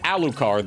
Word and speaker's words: Alucard: They don't pronounce it Alucard, they pronounce it Alucard, as if he's Francais. Hon, hon, hon, des croissants. They put the emphasis upon the second syllable. Or third, rather.